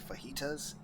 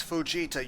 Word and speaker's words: Fujita: Anzawa, part-time worker named Ryo Takumi, and Kohei Fajitas. It's Fujita, you hungry son of a bitch. I'm sorry I'm hungry. See, I want to get fajitas. Like, that's not how you pronounce his name. It's Fujita.